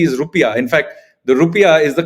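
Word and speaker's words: rupiah: Garuda its currency is rupia in fact the rupia is the correct pronunciation of the term rather than the term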